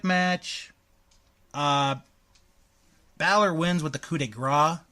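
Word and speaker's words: coup de grâce: Balor wins with the coup de Gras not the coup de cross the coup de Gras learn it learn to say it right mm-hmm C plus C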